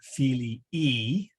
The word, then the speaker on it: filii: So the son's book is liber filii, and there is a long I on the end. In fact, there's two I's, filii, so filii, or filii liber.